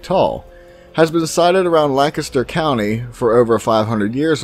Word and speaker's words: Lancaster: or five feet tall has been decided around Lancaster County for over 500 years or more before I get some comments on this we pronounce it Lancaster not Lancaster at least in my area of Pennsylvania this